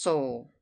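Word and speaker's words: Seoul: place asked Mr hemster it is spelled s e o u l and is pronounced Soul how far is it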